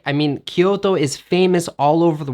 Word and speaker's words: Kyoto: sense to native speakers it's important to pronounce it in an english pronunciation wait wait wait arthur